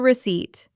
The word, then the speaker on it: receipt: That is the receipt. And remember, the P is silent.